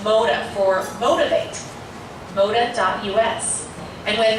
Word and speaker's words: Motah: It's called MODA. It's pronounced MODA for motivate.